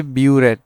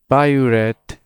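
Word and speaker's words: biuret: You call it the bioret test. So IV that's for the B not boret. This is a very common misconception. Okay. Don't say bored test.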